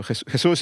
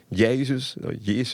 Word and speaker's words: Jesús: So Jesús is the pronunciation in Spanish, but Jesus is fine.